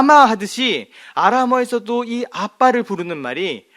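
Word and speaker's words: אבא: 아라머에서 무엇을 우리가 아빠 엄마 영어에서 파파 마 하듯이 아라머에서도이 아빠를 부르는 말이 아바 Aba 똑같아요. 스펠링도 A BB를 써서 아바 정확한 표현은 아빠 우리 말과 똑같죠.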